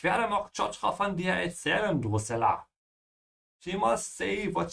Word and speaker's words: erzählen: Au, ich werde Mok Chotra von dir erzählen, Drusilla.